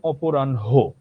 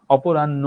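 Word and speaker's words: অপরাহ্ণ: অপরাণহে উচ্চারণ কিন্তু অপরাণহ। ঠিক আছে? মধ্যানহ অপরাণহ বনহী পূর্বানহ সায়ানহ। ঠিক আছে? অপরাণ্য না অপরাণহ।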